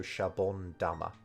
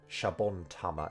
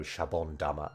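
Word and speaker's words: シャボン玉: guess tama um but because the un is here shabon it's easier to change the tut into da for the pronunciation here so shabon damma i think shabon tama is too hard to say it just doesn't roll off the tongue as easily so shabon dama feels feels right um and that happens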